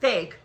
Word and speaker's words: Feig: Feig.